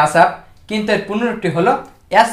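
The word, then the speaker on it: ASAP: এ এস এ পি উচ্চারণটি হয় আসাপ, কিন্তু এর পূর্ণরূপটি হল অ্যাজ সুন অ্যাজ পসিবল।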